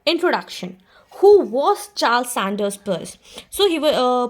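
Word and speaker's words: Peirce: thing is that introduction who was Charles Sanders purse. So he uh pur it is pronounced as pur and he lived from 1839 to 1914.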